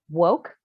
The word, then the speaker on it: WOCC: color in cannabis uh wocc pronounced woke is a federally recognized